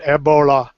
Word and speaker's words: Ebola: If you hear the African pronunciation, because it's A with a very deep A, and then they roll the L, so it's Ebola. Well, it's a big It's river. deep in your throat, Ebola.